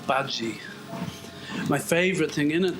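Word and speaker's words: Badguy: His surname was Bad Guy, but he pronounced it Badji.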